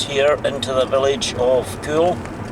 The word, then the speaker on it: Caol: take a wee detour round the village of CAOL, which is spelt C-A-O-L, the village of CAOL, which is right beside Fort William.